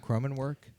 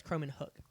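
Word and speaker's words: Kromenhoek: Is I it mean, not I had no Croman- idea how to pronounce his Is name. it not Cromenwork? No, it's Cromenhook, I Okay, believe.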